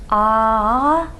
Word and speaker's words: ağacın: And so the "ç," but if we want to say "your tree," so we're adding this possessive suffix that starts with a vowel, "ağaç" becomes "Ağacın": your tree and if we want